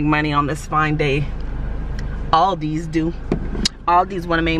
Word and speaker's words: Aldi: y'all might say, Ariel, there's no S in Aldi's. It's actually Aldi. But you know what? Just like the K in not is silent, the S in Aldi's is invisible. It's Aldi's. I don't care what none of y'all say.